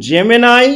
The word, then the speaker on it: Gemini: সেক্ষেত্রে বলে রাখি দেখুন জেমেনাই বা জেমিনি যাই উচ্চারণ করি না